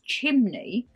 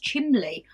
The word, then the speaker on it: chimney: wrong your whole life mine is chimney for years I didn't realize it was for years I didn't realize it wasn't pronounced chimley oh chimley and the lady